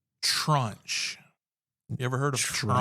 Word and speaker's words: tranche: Trunch. You ever heard of? You have to spell that one.